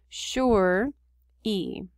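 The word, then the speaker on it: Tsheri: us to know that we would pronounce this sure e and this is bigger which means that's where we put our emphasis on that syllable sure sherpa just two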